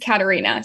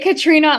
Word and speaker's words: Catarina: because okay we'll introduce myself um it's actually pronounced Katarina so I get Katrina a lot um like people think it's